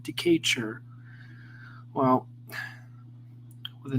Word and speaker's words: Decatur: See, it's pronounced decatur, like this. Oh, that's what the heck it's called, decatur.